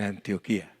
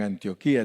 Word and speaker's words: Antioquia: que se llama Antioquia ellos no le dicen antioquía le dicen Antioquia yo no sé por qué los colombianos le dicen diferente a nosotros verdad porque tiene acento en la última ahí antioquía Pero ellos le dicen Antioquia le ponen el acento en la primera y y les gusta